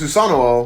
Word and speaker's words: Susanoo: On that same page, Sasuke tries to find with his Susanoo, which is the proper pronunciation of that word, by the way, immediately